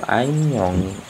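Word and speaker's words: 안녕히: Tapi karena yang ini bertemu dengan hiat, maka hiat tidak perlu dibaca. Jadi dibacanya itu an, nyong, ngi. Dibacanya itu anyongi ya.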